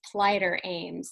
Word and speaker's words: Phlighter Ames: yeah, it's Phlighter Ames. Yeah, Phlighter but it's Ames. funny within the name, there's light and aim.